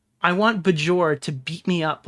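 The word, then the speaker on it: Björk: Is this Bjork? Or did I spell it wrong? Yes, pronounce it like put a Y.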